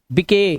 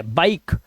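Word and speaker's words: bike: अब इसे गिवे नहीं पढ़ने, गिवे, गिव, मके नहीं, मेक, बिके गलत है, बाइक, इसे राइस या रिसे नहीं पढ़ना है क्योंकि लास्ट का ई साइलेंट है, ठीक है।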